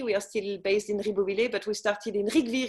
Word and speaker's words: Ribeauvillé: And I learned, everyone, it's not Ribeauvillé, it's Ribeauvillé. So that just put that on the long list of things I've been spelling wrong and mispronouncing for decades.